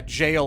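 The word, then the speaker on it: gaol: So I've ascertained that, yeah, jail apparently is how you say it.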